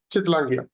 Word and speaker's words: Chittlangia: Okay, इसको pronounce कैसे करते हो आप पूरा नाम कैसे पुकारते हो? चितलांगिया।